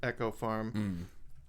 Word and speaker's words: Eco Farm: the farm, which was, it's spelled Eco Farm, but they pronounce it Echo Farm.